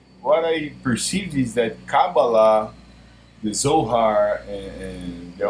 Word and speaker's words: Kabbalah: question to myself I have downloaded a Caba cabala that's how you pronounce it cabala PDF it's a complete PDF written by a